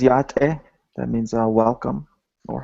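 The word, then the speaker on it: Yá'át'ééh: a conference hey on this photo can you pronounce the word on the right on the right says yate that means uh welcome or hello it's a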